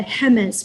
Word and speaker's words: Jemez: One resource that I find myself referring to all the time is a document called the HEMES Principles for Democratic Organizing. That's spelled JEMEZ, HEMES Principles.